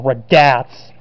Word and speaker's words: Radatz: for the description is dick raddas or radatz that's the better way to pronounce it scott hatterberg another player